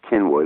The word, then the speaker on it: Cynwyd: the Ala Cyn WYD pronounced Kenwood a Welsh word had their headquarters in